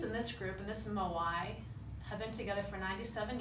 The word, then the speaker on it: Moai: And I want to introduce another term to you called Moai. It's spelled M-O-A-I.